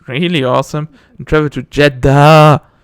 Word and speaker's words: Jedha: Honestly, I didn't realize until later that Jedha, pronounced basically the same as Jedi but spelled differently, is a planet where Cere is.